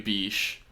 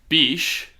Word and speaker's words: Bich: name Matthew Bish because it is spelled and I believe pronounced Matthew Bish.